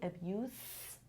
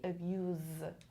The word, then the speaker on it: abuse: be a noun so as a noun i say abuse as a verb i say abuse okay this is use